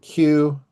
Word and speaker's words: Kue: Quote, Solomon's import of horses was from Musri and Kew, which is probably Cappadocia and Cilicia. And the king's traders received them from Kew at a price. Kew is spelled Kue.